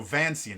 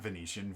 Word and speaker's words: Vancian: a hundred percent yeah no vancian not venetian vancian uh vancian wow i got that totally wrong i always pronounce it venetian in my brain i don't know why